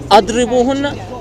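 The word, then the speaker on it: اضربوهن: sign underneath the letter, then it's gonna be idrubuhunna, which means beat them. But since it has this sign on top, that means you when you read it, you pronounce it as adribuhunna, means stay away from them.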